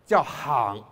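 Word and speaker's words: 行: Chinese Take, for example, the verb “to walk” pronounced “hang” Right? Confucius spoke of “three men walking” using this classical word “hang” Using the modern word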